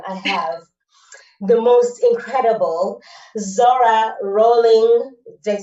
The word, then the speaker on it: Zohra: name, and how I write it sounds like Zohra. And you said to me, actually, that's how your name is pronounced, or should be rather, right?